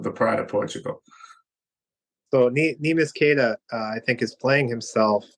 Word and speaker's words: Neemias Queta: backup center on our team, and I can't pronounce his name. Queta? Neemias Queta. Neemias Queta.